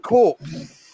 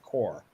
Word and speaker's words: Corps: I thought it's pronounced Corpse.